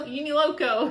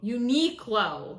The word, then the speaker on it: Uniqlo: You know, Uniloco.